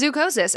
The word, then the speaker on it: zoochosis: Yeah, it is zoochosis.